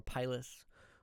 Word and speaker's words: pilus: a pis or pyus kind of like potato potato it's pronounced both ways so a pis or a pilus or a Pei for